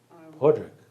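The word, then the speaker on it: Padraic: me am I right or is that correct poric poric Patrick spell p a d r a i c and I always just porri yeah but she pronounced it porri Podrick Podrick and it's a she it's a he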